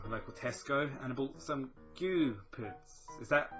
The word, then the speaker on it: Gü: went down to local Tesco and bought some goo PS is that how it's pronounced goo yeah goo yeah yeah g u